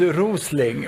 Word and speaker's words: Rosling: Sweden so uh just there's a problem because rosling in the Swedish language means the last breath before you die whereas my name is rosling which is a small rose so that mispronunciation in English makes it useless please go for factfulness